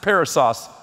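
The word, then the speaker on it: περισσός: The word abundance in the Greek is pronounced parousos. Parasos is a cool word.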